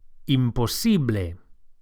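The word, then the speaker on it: imposible: it's impossible imposs imposs don't forget to stress the SI imposs to say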